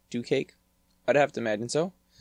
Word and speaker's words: DuCake: Hello everyone, welcome to this server showcase of DuCake's Vivarium? Vivarium. I'm assuming that's the correct way to enunciate it. I'm also assuming that, DuCake is how you're supposed to pronounce DuCake.